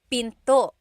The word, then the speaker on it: pinto: door in Tagalog is pinto pinto and remember don't forget the glottle stop don't forget to stop the sound at the end that's called a glottle stop pinto pinto it's not pinto to it's pinto.